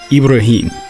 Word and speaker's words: Ibrahim: Anyway, they all contain the classic story of Abraham, pronounced in Arabic Ibrahim, who at 86 years